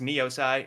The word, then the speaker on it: Niosai: about that and it's still it was still pronounced neosi and uh that's how I landed on that